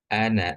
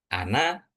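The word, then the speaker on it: أنا: Nah, ana seperti yang sudah teman-teman pelajari itu cara bacanya ana ya ana aja bukan ana, bukan tapi ana aktaru. Jadi alif yang ada setelah huruf nun ini enggak perlu dibaca. Kemudian ee yang ini walakinna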